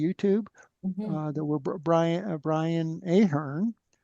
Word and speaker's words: Ahern: link to the YouTube that we're Brian Brian Ahern says name.